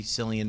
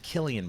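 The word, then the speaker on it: Cillian: Um, but or is it Killian Murphy? Am I saying it right? I heard. I said Sillian and people ate me up a little. It's Killian, I guess.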